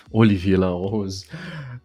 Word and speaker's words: Olivia La Rose: by Olivia La Rose Olivia La Rose in the French pronunciation from YouTube and he